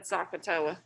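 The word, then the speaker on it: SOHCAHTOA: trig ratios so let's review uh-huh who said sakatoa so that's how your parents learned it but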